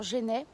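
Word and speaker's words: Genêts: Donc là c'est parti pour Genêt et on va encore un peu plus se rapprocher du Mont Saint-Michel.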